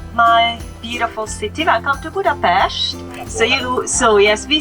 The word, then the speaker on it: Budapest: And the first very important thing is to learn how we pronounce the name of the city, because we don't say Budapest in Hungarian, we say Budapest.